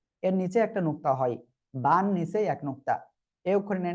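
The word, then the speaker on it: باء: এর নিচে একটা নুক্তা হয়, বান নিচে এক নুক্তা। এই অক্ষরের নাম বা। এক আলিফ টেনে পড়তে হবে, দুই ঠোঁটের ভিজা অংশ থেকে উচ্চারণ হবে। বা, বা, বা।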